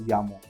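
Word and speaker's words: Jamo: It spells as J A M O but since it's a Scandinavian brand they pronounce it as Yamo.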